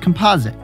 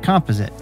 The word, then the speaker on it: composite: along the way too first it's pronounced composite not composite I love these chairs